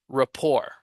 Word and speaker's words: rapport: this word I never know report report report pronunciation Rapport Rapport Rapport yeah yum so yeah that's it